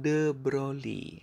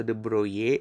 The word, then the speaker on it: de Broglie: Untuk mendapatkan panjang gelombang de Broglie atau de Broglie atau de Broglie. Nah, tergantung pronunciation kita ya, karena sebenarnya ini kan bahasa Perancis ya.